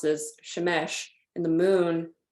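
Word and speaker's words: שמש: they specifically did not list the sun being pronounced as Shemesh and the moon pronounced as urea because it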